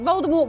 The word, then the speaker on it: Voldemort: it turned out that Voldemort wasn't actually pronounced the way everyone thought it was and the T was actually silent so it was furthermore